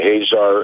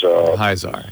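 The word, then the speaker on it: Hyzaar: The Hazar is Hyzar.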